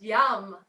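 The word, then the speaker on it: yam: heart chakra of yours the seed syllable for the heart chakra is yum y am yum so taking an inhale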